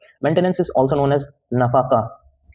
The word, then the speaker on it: nafaqah: Maintenance is also known as नफाका, spelling है NAFAQAH।